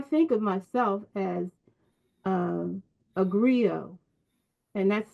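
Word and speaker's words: griot: Soul because I think of myself as um agrio and that's spelled g r i o t and also g r i o I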